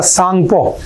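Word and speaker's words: Tsangpo: Part मानता है तो in China it is known as द सांगपो। ठीक है? तो टी साइलेंट होता है तो हम इसे सांगपो रिवर भी कहते हैं।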